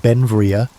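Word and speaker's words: Beinn Bhreagh: Pronounced Benvia, Bel became an American citizen in 1882, but his name, meaning beautiful mountain in Scottish Gaelic, showed his Scottish heritage.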